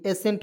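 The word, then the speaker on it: ascent: पढ़ेंगे दोस्तों, एसेंट, तो ए एस सी ई एन टी, एसेंट पढ़ेंगे, ठीक है ना, एजेंट नहीं पढ़ेंगे।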